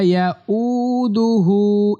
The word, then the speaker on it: يؤوده: বাংলা দেখেন ওয়াসিআ কুরসিয়ুহুস সামাওয়াতি ওয়াল আরদ ওয়ালা ইয়াউদুহু হিফযুহুমা, ওয়ালা ইয়াউদুহু, এই হাতে কিন্তু টান হবে, ওয়ালা ইয়াউদুহু, ওয়ালা ইয়াউদুহু, ওয়ালা ইয়াউদুহু, ওয়ালা ইয়াউদুহু।